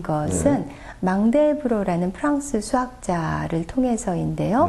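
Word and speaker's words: Mandelbrot: 프랙탈에 대한 논의가 대중적으로 알려지게 된 것은 망델브로라는 프랑스 수학자를 통해서인데요. 네. 만델브로트라고도 발음을 했었고 최근에는 외래어 표기법에 따라 망델브로라고 발음을 하는데 네.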